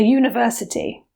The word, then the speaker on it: university: a Russian man, a university. Note that with the word university, although it begins with a vowel, in this word it sounds like a consonant.